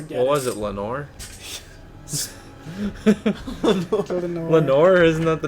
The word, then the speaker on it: Lenore: Lenore's the wife in The Raven that died in Poe's poem. Is it? Yeah. Because it rhymes with chamber door.